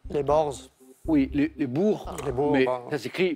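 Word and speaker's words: Boers: oui pardon allez-y oui la prononciation est étrange çacrit B O e r s et on dit les Bours la guerre des Bours mais c'est exactement ça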